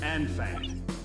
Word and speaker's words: Anfang: We've received a report that remaining Belkan troops are converging on Belka's northeast coast of Anfang. It's pronounced on.